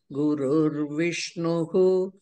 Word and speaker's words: गुरुर्विष्णुः: गुरुर्ब्रह्मा गुरुर्विष्णुः, that visarga should be pronounced. Gurur Brahma, Gurur Vishnuhu, Gurur Devo Maheshwaraha, Guru Sakshat atra visarga ardhasa adhikam ucharanam kartavya.